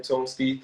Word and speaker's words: Tone Stith: That's how you say his name, Tone Stith, or like Hmm.